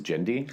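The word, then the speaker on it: Genndy: but it is i i'm pretty sure it's gen d jindy okay yeah we're gonna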